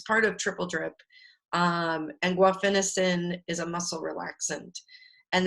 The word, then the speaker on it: guaifenesin: I suck at pronouncing it, but guaifenesin.